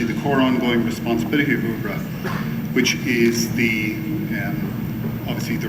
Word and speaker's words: UBRA: Retirement Benefits Authority, or as I've learned to pronounce it, UBRA.